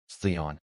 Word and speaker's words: Theon: Theon, he said it right this time. Both syllables correct. No extra vowel.